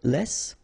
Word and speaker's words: les: C all right then if you want to say Les it's in French so no discussion about the S here don't pronounce it okay and then you